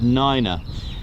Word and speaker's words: nine: You'll also hear the number 3 pronounced as tree. All right, that again, and also number 9 as niner. Also 5 as fife.